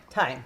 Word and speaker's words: thyme: Thyme. Okay. Just like a clock. Okay. Sometimes I think I need to put that sound that H in there, and it doesn't sound right.